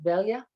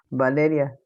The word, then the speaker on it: Valeria: How do you say your name? Is it Velia? Valeria. Yeah, Valeria. Valeria. All right. In English would be like Valerie. It's like Valerie. Okay.